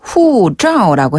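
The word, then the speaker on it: 护照: 여권이란 단어 굉장히 중요하잖아요네 여권의 그 그 발음은 중국어로 후자라고 해요 후자 한번 더 후자 후자 짜가 그냥 짜 이게 아니네요네 위 아래로 짜 짜 그렇죠를 살짝 말았다가 떼면서내는 소리 짜 후 짜네 후자 후자네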